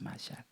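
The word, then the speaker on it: מָשַׁל: 네모는 미음 발음 나는 건 알겠는데 오늘 이제 저 더블처럼 생긴 거 쉰을 배웁니다. S 발음이 나고요. 라메드 L 발음 납니다. 마샬이랍니다. 마샬.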